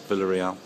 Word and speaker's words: Villareal: Villareal. That's it, well pronounced.